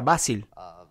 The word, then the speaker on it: Vasil: Creo que se pronuncia Basil. Sí, es por Basil Davoud.